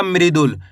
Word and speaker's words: मृदुल: माँ में री की मात्रा मृ दू ले तो मिलकर बन जाएगा मृदुल।